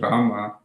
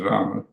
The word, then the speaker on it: Rama: what you have mentioned earlier is the posture, pronunciation, and today the emphasis on saying Rama rather than Rama.